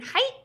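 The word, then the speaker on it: Haidt: heard of them jonathan height i think is how you say his last name he kind of makes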